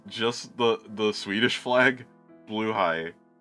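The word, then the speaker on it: Blåhaj: the the Swedish flag Blue High oh Red High I'm not pronouncing that wrong that's how it's supposed to be pronounced like how should it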